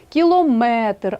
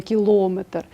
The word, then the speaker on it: кілометр: 70 80 друге правило одиниці виміру довжини мають наголос на останньому складі кілометр а не кілометр міліметр сантиметр третє правило